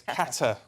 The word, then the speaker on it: Qatar: Um yes, Qatar.